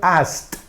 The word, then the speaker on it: asked: Ahora bien, repetimos, si la base del verbo termina en sonido de consonante sorda y que no sea T, pues entonces lo pronunciamos como una T.